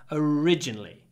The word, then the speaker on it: originally: Try to hold the r, originally.